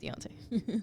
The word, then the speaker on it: Deontay: When Tyson Fury got dropped by uh by uh Dante Wilder, right? Dante. I would say it wrong though. Deontay.